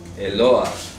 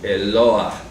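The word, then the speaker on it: אלוה: Eloah. Se pronuncia así, Eloah.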